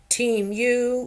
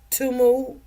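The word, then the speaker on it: Temu: teu teu T muu some people they pronounce it teamu or Teo or tumu whatever you want to call it but they got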